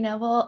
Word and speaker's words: Kneble: what you've been doing sure so i'm neville um i graduated that's okay the gay is silent but that's okay everyone gets it so